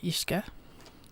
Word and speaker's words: Uisce: Or Ishka is the right way to pronounce it.